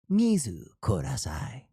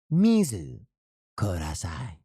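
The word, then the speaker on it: 水ください: Uh with the pronun- the correct pronunciation, that would be uh mizu kudasai. Mizu kudasai.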